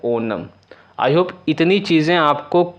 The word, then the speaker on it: ओणम: केरल आ गया भाई, केरल है हमारा ओनम, सबसे इम्पॉर्टेंट है ओनम, बहुत लोग ओणम भी कहते हैं बट करेक्ट प्रोनाउंसिएशन है ओनम।